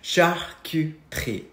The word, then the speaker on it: charcuterie: We found a charcuterie board in the basement of our new home. Did somebody say cheese board? All right, it's pronounced charcuterie, charcuterie, charcuterie.